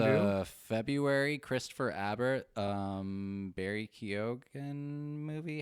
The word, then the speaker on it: Keoghan: a February Christopher Abbott, Barry Keoghan movie. How is it you say his name again? Kyogen.